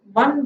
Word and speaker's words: one: one rupee coin one one whenever you are saying it is coming like w pronunciation one one rupee coin